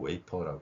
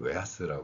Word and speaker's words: wafer: 지금 삼성전자 반도체 공정에서의 사진을 가져 봤습니다 여기서도 웨이퍼 발음 했죠 근데 앞에서 어 재과 회사에서는 웨하스 발음을 했고요 이러한 그 F 발음에 대해서도 이런